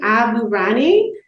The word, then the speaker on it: Aburaneh: in real estate podcast today I have Abu Rani welcome thank you and yes you did it you pronounced my last name correct okay my last